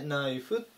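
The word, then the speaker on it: knife: に注意ですね最初の系は発音しないでナイフという風に読みますナイフとか包丁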